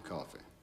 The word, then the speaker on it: Coffey: hate him your name is John Coffey like the drink only enough spelled to